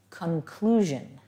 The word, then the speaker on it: conclusion: The next word is conclusion. Both of the C's in this word have a hard C sound.